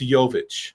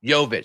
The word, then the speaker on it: Jovic: The J, yeah, I went online cuz there is Jovic, there's there's a couple different ways to pronounce that Serbian last name, but it's it's Jovic. Jovic, spelled j o v i c.